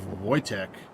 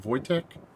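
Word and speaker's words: Wojtek: L201 Voytech. If you don't know who Voytech is, go look up uh I think he retired as a sergeant. Sergeant Voytech. And that's how it's spelled, but it's Polish.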